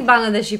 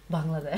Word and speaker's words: Bangladesh: So any Bangladeshi person, I think, of my generation, obviously my parents' generation, the war of liberation, okay.